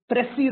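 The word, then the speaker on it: précis: called grammar but that's exactly what it is pressy writing you would have done in your 10th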